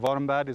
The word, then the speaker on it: Warmbad: Is it Warmbad? Have I pronounced that right?